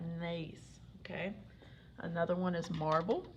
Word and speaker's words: gneiss: This one has a weird spelling. You pronounce that gneiss, okay?